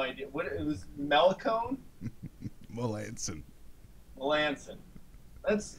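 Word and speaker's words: Melancon: Melanson. Melanson. You gotta admit that it looks like it would be a hard C.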